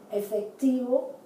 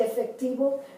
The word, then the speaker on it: efectivo: I pronounce it as if it were a B, the B grande. So, efectivo, elegante.